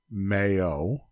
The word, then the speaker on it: MAO: So the Mayo formula, which is MAO, Mayo.